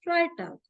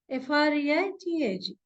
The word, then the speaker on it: Freitag: And here in Freitag, the combination is reversed. Now it is EI. So it is I. It is pronounced as I.